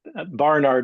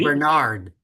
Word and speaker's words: Barnard: It's barn you say barn like like a like a barn out in the field. A barn. Barnard. I've even heard his uh some of the colleagues that work for the Barnard Medical Center even pronounce his name wrong. They say Bernard. Bernard. Yeah. and he doesn't ever correct him, but I've heard him say his own name many times. Yeah, it's Barnard. Yeah, Barnard.